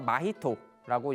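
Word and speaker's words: 真人: 그래서 이 팔색성의 이 구성을 보면요, 제일 위가 진인이라고 한자를 써서 마히토라고 읽습니다. 마히토라고 읽고요.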